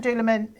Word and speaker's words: Dúlamán: How do you pronounce it right? So it's called Dúlamán.